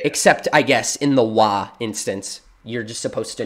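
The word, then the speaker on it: は: use the wa hiragana, they use the ha hiragana, which is H-A, and then they pronounce it like wa.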